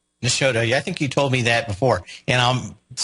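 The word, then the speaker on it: Nashotah: It's Nashota. Nashota.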